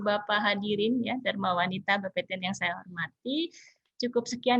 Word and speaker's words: Bapeten: Bapeten itu bacanya Bapeten ya. Kalau Banten kan Banten.